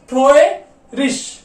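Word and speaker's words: traurig: अब यहां पे देखने वाली बात है, ये जो आई जी जो है लास्ट में आया है किसके, वर्ड के। ठीक है, वर्ड की लास्ट में आया है, तो इसको हम क्या प्रोनाउंस करेंगे, ट्रोयरिश।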